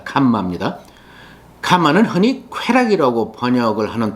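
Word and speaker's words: काम: 첫째, 캄마. 카르마가 아닙니다. 캄마입니다.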